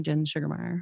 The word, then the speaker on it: Sugemeyer: who want to know it's g e not g-a-r so gen yeah s-u-g-e-r yeah yeah so yeah all